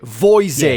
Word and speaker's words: Voisin: Voisin.